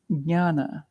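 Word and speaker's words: jnana: easier it's like a it's actually J N it's the same root as our KN to know Cano right why do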